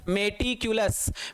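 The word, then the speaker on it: meticulous: Right pronounce तो मटिकुलस होता है, बट आप मेटिकुलस बोल लो, जिससे हमें हमारी स्पेलिंग याद हो जाए।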